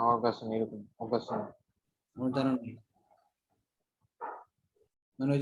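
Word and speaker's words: Xenon: এটা হচ্ছে এক্সিনন, উচ্চারণ কিভাবে বলেন? জেনন।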